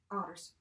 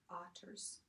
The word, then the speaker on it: otters: Keep the O short. You know, we don't want to pronounce it otters, like odd, like O-D-D, ot. Make sure you're pronouncing those T's there, otters.